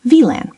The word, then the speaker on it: WLAN: In German, W is pronounced like English V. For example, WLAN is spoken like VLAN by many Germans, and V is often pronounced like English F in common words.